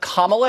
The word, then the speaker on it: Kamala: Venezuela yeah okay ladies up next we have Kamala Harris so now we know how to pronounce her name Kamala Harris okay and this